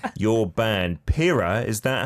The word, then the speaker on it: Pira: Your band, Pira, is that how I pronounce it?